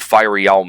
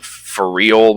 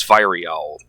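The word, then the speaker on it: Fireal: But Fiery Owl, and I don't even know what Fiery Owl means, like where the word came from.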